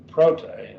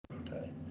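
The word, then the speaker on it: πρώτη: Prote. And this, of course, is also an adjective, and it's a feminine form they're giving here because we're dealing with feminine nouns. Prote, that would be first, the first something, the first something.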